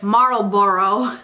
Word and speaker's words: Marlboro: can't say the word Marlboro is how you say it was going on he